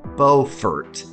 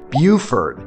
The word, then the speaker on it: Beaufort: Now, I paused there because there's another town in South Carolina with the exact same spelling that's pronounced totally differently, Buford, and I always get them mixed up.